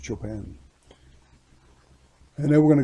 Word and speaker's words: Chopin: But in classical music, that would be pronounced Chopin.